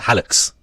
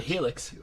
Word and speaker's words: hallux: what does, apologies if I mispronounce this, the hallux refer to? Skibbity. Go on. It's a part of your DNA. No. Yeah. The helix.